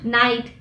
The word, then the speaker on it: knight: to the next letter the letter k k is always silent before an end at the beginning of the world for example knowledge knight knife moving on to the